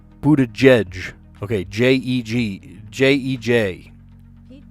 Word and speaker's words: Buttigieg: How do you pronounce that? Let me look it up. Okay, let's hear it. Pete Buttigieg. Buttigieg. Okay, J-E-J. Pete Buttigieg.